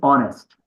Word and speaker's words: honest: the next one is honest honest honest H here is silent honest honest kind sinere